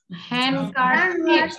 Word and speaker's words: handkerchiefs: Handkerchiefs. All his handkerchiefs and hang them. All knives. আচ্ছা অনেকের কিন্তু উচ্চারণ হচ্ছে না.